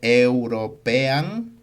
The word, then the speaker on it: European: Se escribe european, pero se pronuncia European.